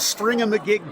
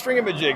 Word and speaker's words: Stringamajig: a huge stack of Stringamagig games. Yes, Stringamajig. So what is this? Yes. This is Stringamajig. It's like Thingamajig with a string, and that's exactly what we're doing.